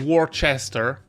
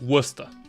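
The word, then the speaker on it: Worcester: Americans pronounce this wrong it's not war Chester it's Worster North so if we're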